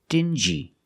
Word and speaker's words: dingy: example dingy and stingy these two words have the regular n Sound n Plus the J like juice together sting G together stingy or d g together dingy this wall is very